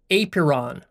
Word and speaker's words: apeiron: And then we have the Greek idea of the apeiron, spelled A-P-E-I-R-O-N. Apeiron. It's kind of weird to pronounce.